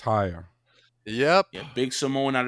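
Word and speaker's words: Suamataia: Swamataya. That's how you pronounce it. Wamataya.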